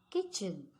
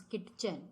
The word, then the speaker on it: kitchen: Kitchen. When we pronounce kitchen, which letter we don't pronounce loudly? T. We don't pronounce kitchen. It is kitchen. So T is the silent letter.